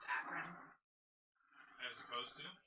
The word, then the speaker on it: Akron: smiggle it's still funny to me that it's pronounced akron as opposed to acron okay just because like i spent a long